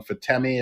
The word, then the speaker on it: Fatemi: owned by mark cuban started by uh fallon fatemi i believe is how you pronounce her last name and it's just such